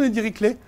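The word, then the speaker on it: Dirichlet: horrible para ustedes porque jake le es un matemático alemán pero con un apellido francés porque su abuelo era francés de click de click klein entonces él pronuncia su nombre su apellido del mundo francés como su abuelo porque esto se pronuncia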